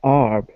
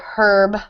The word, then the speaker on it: herb: people tend to say ARB more than harb right exactly yep in America the H is silent so we say an herb in British English or English in Australia elsewhere they might say herb so I'll herb great